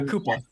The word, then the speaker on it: Cooper: Roy Koopa is how his family apparently pronounced it.